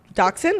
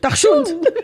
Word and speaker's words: Dachshund: ear it is Dachshund.